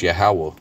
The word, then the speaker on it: Yahweh: Because V's are always sound like W's in the ancient world anyway. It should be pronounced Yahweh.